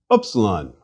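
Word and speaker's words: ύψιλον: Upsilon should ideally be pronounced as the U in French, tu, or as in the German word for Miller, Müller.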